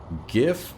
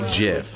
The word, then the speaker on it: GIF: GIF with soft G has precedent. Giraffe gerrymandering Jeff. Wait, hold up. And for that they say graphic is a hard G. Do you pronounce JPEG or wait what would it be? JPEG or J JPEG. Also the creator of GIF used the soft G.